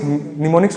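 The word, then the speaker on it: mnemonics: निमोनिक्स सुने हो क्या होता है, एम साइलेंट होता है इधर, निमोनिक्स।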